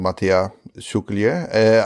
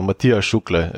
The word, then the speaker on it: Matija Šuklje: having a guest called Matija Šuklje. I hope I pronounced that correctly. It was close enough. You could just drop the J. So Matija Šuklje is how you probably pronounce it.